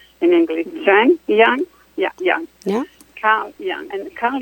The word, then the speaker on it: Jung: And Freud and Jung refer to subconsciousness with a French word which is called inconscient.